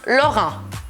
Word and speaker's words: Laurent: Y después de eso tenemos Laurent, Laurent. Así que A-U, ya lo dije, es O y E-N es en. Y no se pronuncia la T.